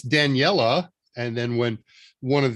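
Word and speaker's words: Daniele: do anything that uh is it danielle which you know that's what i've assumed i've assumed kind of a french pronunciation it's daniella and then when one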